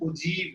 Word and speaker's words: ogive: ठीक है, लिखते उसको OGIVE है, इसका प्रोनाउंसिएशन उजीब है।